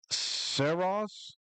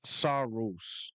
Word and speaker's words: Saros: Hate to be that guy, but Soros is pronounced SOS. SOAS, not Saros.